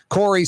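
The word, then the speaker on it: Kaare: Corey spelled K-A-A-R-E. Yeah, I know. That's how it's spelled. Scandinavian.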